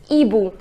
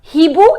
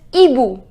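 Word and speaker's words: hibou: boom the pronunciation is EBU remember now in French with right H but we do not pronounce it this H does not have its pronunciation so it is not he boo it is EBU which means an old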